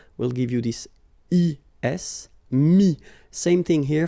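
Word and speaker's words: mis: And then mettre, to put, so ETTRE will give you this IS, mi, same thing here, final S is not pronounced, mi, okay.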